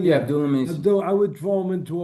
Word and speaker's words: Abdullah Mason: Yeah, Abdullah Mason.